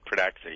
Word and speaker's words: Pradaxa: Proxada, something like Pradaxa. Pradaxa, yeah. Pradaxa.